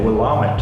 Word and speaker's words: Willamette: also will a mentor Willamette as Americans would pronounce it which is it's an